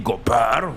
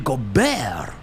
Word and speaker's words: Gobert: You don't say Rudy Gobert. Rudy Gobert. Gobert ends with T, you idiot.